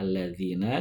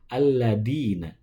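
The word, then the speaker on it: الذين: Zal itu keluarnya dari ujung lidah bertemu dengan ujung gigi seri bawah. Nah, siratal ladzina. Nah, sering kita jumpai membunyikan huruf alladzina itu dengan alladina. Siratal ladina. Nah, kalau ladina itu bukan zal tapi dal.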